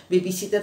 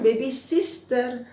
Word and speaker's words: babysitter: penuh itu duduk jadi babysitter penunggu bayi Maksudnya ya orang yang merawat bayi gitu nah jadi bukan bebisister tapi baby sitter ya babysitter yang jelas lahirnya ya oke kemudian